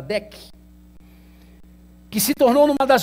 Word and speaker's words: DEC: Corporation digital equipment Corporation né pronúncia mais correto chamada Deck que se tornou numa